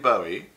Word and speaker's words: Bowie: And it is pronounced Bowie, by the way. How do I know? Because he told me personally.